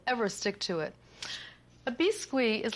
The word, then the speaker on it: biscuit: A lot of people call it biscuit, but biscuit is the way the French pronounce it, and roulade is a roll.